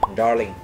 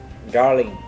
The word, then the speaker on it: darling: Darling. Darling. Để phát âm từ này thì các bạn nên uốn lưỡi lên một chút thì phát âm sẽ hay hơn đấy.